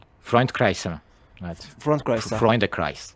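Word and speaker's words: Freundeskreis: Böyle okunuyordur. Freund Kreis'e mi? Evet. Freundkreis'e. Freunde Kreis. Freunde Kreis.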